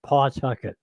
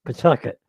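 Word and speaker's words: Phuket: of Rh Island because they pronounce it pcket and it's not pcket it's Pucket p p apostrophe tuet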